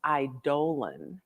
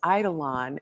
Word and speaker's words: eidolon: think of it as eidolon and it i think it sounds prettier as eidolon and i have to force myself not to mispronounce it but my musical daughter's like think colon so i get it